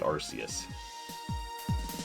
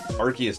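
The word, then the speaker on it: Arceus: Yeah, but like there is canon for how this is supposed to be pronounced. Yes, but then again, I'm never calling it Arus ever. Archus.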